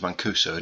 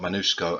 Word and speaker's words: Mancuso: I've just realised that his name's Mancuso, not Manusco. I've been saying it wrong for about 20 episodes now.